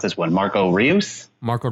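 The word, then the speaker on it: Reus: note Thomas Muller I don't know how to pronounce this one Marco Rios Marco Royce thank you and Tim Oh Verna along with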